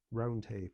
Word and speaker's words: Roundhay: How do I pronounce it? It's Roundhay Park, is it? Roundhay Park.